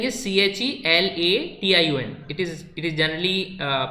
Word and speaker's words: chelation: Spelling is CHELATION. It is generally pronounced as chelation.